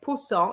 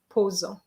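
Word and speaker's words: poser: go like a snake unfortunately the word busy b-a-i-s-e-r doesn't have two s's okay so you have to say bezier actually i have already said it okay uh because there's only one s and you also have to remember guys that an s between two vowels gives you a zed sound so you made that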